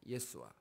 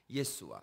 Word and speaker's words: 예수아: 예수와. 다시 한번 예수와. 예. 거기서 아자만 뺐지 요수아라는 그런 발음이기도 하고 예수아가 아주 오리지널 발음입니다.